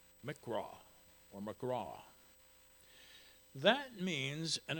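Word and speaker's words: מקרא: original manuscripts, and in English it would be pronounced mikra or magraw.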